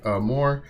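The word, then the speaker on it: amor: homework the word for love in Spanish is a more it is pronounced like a more up the Fantastic work learning a new language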